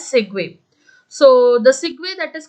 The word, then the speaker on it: segue: Okay, you can that you can pronounce it as segue.